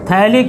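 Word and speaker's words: phthalic: थैलिक acid. P silent होता है, मैंने एक बार बताया था। थैलिक एसिड, बुक में देखो, अमोनिया के साथ रिएक्शन करो।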